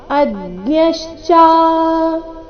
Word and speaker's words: ಅಜ್ಞಶ್ಚ: ಅಜ್ಞಶ್ಚ ಶ್ರದ್ಧ ಧಾನಶ್ಚ ಸಂಶಯಾತ್ಮ ವಿನಶ್ಯತಿ ನಾಯಲ್ಲೋಕೋಸ್ತಿನ ಪರೋ ನ ಸುಖಂ ಸಂಶಯಾತ್ಮನಹ ಅಜ್ಞಶ್ಚ ಅಥವಾ ಅಜ್ಞಶ್ಚ ಅ ಮೇಲೆ ಸಹ ಆಘಾತ ಬರಬೇಕು ಅಜ್ಞಶ್ಚ ಶ್ರದ್ಧದ ಶ್ರದ್ಧ ಧಾನಶ್ಚ